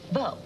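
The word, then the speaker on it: veau: And then they write down how it sounds, V-O. Beau. Rhymes with no.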